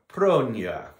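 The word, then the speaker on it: pronoia: Let's hear that again. Pronia. You have to roll your R's in Greek just like you do in Spanish.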